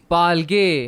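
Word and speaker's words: פַּלְגֵי: அப்ப இதனுடைய உச்சரிப்பு எப்படி வரும்? तो इसका क्या अर्थ होगा? பால்கே. पालगे.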